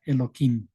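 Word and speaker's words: Elohim: se distorsionan y aquí en vez de pronunciar tal como está escrito se le pronuncia eloim entonces señor Dios es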